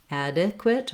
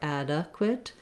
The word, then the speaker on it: adequate: I've written the letter E says the I sound. I've written it here as the schwa, the sound, because I think you can really use either, adequate or adequate.